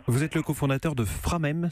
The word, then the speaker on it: Framheim: Vous êtes le cofondateur de Framem, c'est bien comme ça qu'on prononce ? Exactement. Ou Framheim si on le prononce à l'allemande.